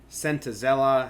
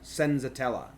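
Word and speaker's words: Senzatela: Sentazella hasn't seen. I think like Voit and someone else have hits for Senza. I've been saying it wrong. Senzatella, which is probably still saying it wrong.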